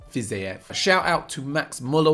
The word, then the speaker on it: Fiziev: i'm saying that right physique is how it's always pronounced on the thing but i believe it's fizef shout out to max